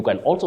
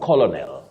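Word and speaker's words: colonel: not avocado liutenant you can also say lieutenant in American English but don't say liutenant leftenant or lieutenant okay Canal not colonal then lastly pediatric pediatric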